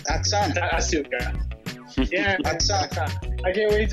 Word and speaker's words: Asuka: Aska? Is that how we're saying it? WWE's doing one thing right, because Japanese pronunciation, you never pronounce the U. Okay, but it's Asuka. Atsuka.